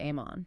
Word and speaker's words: Amon: Which is phonetically identical to Ammon.